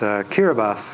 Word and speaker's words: Kiribati: final place I visited was Kiera bus which is a small island country in Central Pacific it's spelled like Kiribati I guess he was